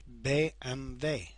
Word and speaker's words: BMW: as in English instead w sounds like a V and the V is pronounced as if it were an F for example a BMW is actually called BMV and the Volkswagen is